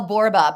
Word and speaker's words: Borba: my name is Michelle borba but the most important thing I'm I'm a one L Michelle I know I spelled your name wrong in the link and apologize BBA rhymes with Zorba so you can go